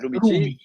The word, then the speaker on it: Rumici: Intanto un ringraziamento a Tommaso, poi il cognome, bisogna ricordarsi come pronunciarlo. Ah, beh, guarda, Rubici, semplicemente Rumici, Rumici.